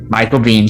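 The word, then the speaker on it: Michael Biehn: carperson and last but not least we have michael bean am i pronouncing that right pete michael b yeah michael bean july 31st uh he plays lang on season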